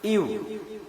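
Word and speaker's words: ewe: তো দেখুন এখানে ই দিয়ে কিন্তু ওয়ার্ডটা শুরু হয়েছে যে ইউ, অর্থাৎ ই থাকার সত্ত্বেও এর উচ্চারণটা কিন্তু ইউ এর মতো হচ্ছে।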